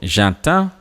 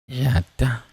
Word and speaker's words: j'attends: So, j'attends. Let's see what Word is proposing. J'attends. The D goes.